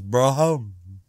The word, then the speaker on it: Barham: write in and say pete can't pronounce barham because the real naval officers pronounce it in some ludicrous fashioners bro home well i know i don't say it right but sodom now uh